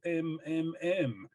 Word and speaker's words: MMM: His monogram was MMM, and he insisted that it should be pronounced mmm.